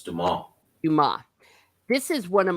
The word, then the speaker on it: Dumas: I call him Alexander Dumas, but I think maybe you don't pronounce the S because it's Yeah, French. it's Dumas.